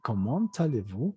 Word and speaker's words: Comment allez-vous: Comment allez-vous? Hace un momento les he dicho que la T es muda, pero también maneja la misma regla, que si la siguiente es vocal, se pronuncia.